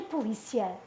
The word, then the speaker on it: polícia: Policia e polícia. Um é verbo, o outro é nome. Não é igual. O acento faz a diferença. Marca a sílaba tónica.